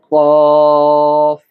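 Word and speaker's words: ك: এরপরে যে অক্ষরটা আপনারা দেখতে পাচ্ছেন, এই অক্ষরটার নাম হলো কফ। ধাক্কা দিয়ে কফ। তার বিপরীত যে অক্ষরটা রয়েছে এটা ধাক্কা হবে না, এটা স্বাভাবিকভাবে উচ্চারণ হবে কাফ, কাফ।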